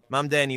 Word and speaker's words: Mamdani: Si c'est ce que Mamdani, est-ce que je prononce? Mamdani, oui.